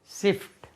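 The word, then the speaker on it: sift: और छलना या छानना एस आई एफ टी शिफ्ट सिफ्ट छलनी करती है ना शिफ्ट शिफ्ट नहीं होता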